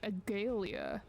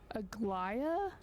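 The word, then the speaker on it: Aglaea: ignoring what she said oh is that how you say her name cuz I've been calling her like agalia Agia it is you who forgot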